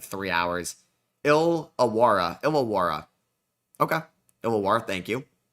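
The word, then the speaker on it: Illawarra: Ilawara. Okay. Ilawa. Thank you. K is pronounced cans.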